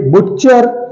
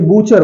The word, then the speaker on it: butcher: Okay, BUTCHER इसे बुच्चर या बटचर नहीं बोला जाता है बल्कि इसे बूचर बोला जाता है, इसे बूचर बोला जाता है। BUTCHER बूचर, तो इसे टी साइलेंट है।